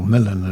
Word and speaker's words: Milan: And uh very briefly, Prospero was the Duke of Milan or Milan as it's pronounced in the play.